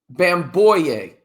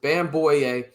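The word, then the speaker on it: Bamgboye: Luke Bam boy yay. That's how you would pronounce it. Bam boy yay.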